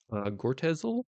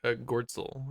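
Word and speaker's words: Goertzel: Um, and then uh in 2008 in an email to Ben Gortezel, I think that's how you say it. I don't know. I think it's Gortzol, I think. Gortzel. Okay, that makes more sense.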